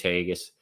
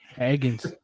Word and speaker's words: Hagens: there to get uh James Hagus or is that how you say it? Hagens. Hagens.